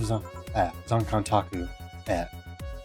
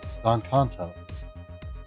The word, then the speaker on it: Zonkanto: I'll have Zonkantaku. Zonkantaku. Zonkanto. I don't know where I was getting those extra syllables from.